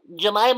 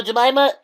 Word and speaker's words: Jemima: syllables in your name jamaa also has four syllables huh J no it's three syllables helva is four yeah